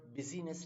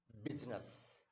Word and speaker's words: business: And this is what, this is what busyness नहीं, business. बिजनेस करता है, बिजनेस होता है.